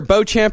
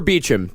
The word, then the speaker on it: Beauchamp: Yes, this batch is from Jeremy, Nicholas, and Christina, either Beauchamp or Beecham. There are two different pronunciations for that.